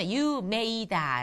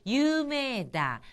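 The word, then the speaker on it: 有名だ: 뜻으로 유메 다음에이가 왔죠 유메이다 라고 발음하지 마시고 유다 매를 길게 그리고이를 아주 약하게 발음하시면 자연스러운 일본어 발음이 되겠습니다 유다 유명하다는 거죠 자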